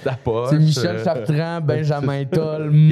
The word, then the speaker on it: Tull: Toll, ouais.